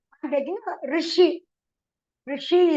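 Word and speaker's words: ऋषि: Rishi is formed by Rikaraha, Shakaraha, Ikaraha. Rishi. That is the correct pronunciation.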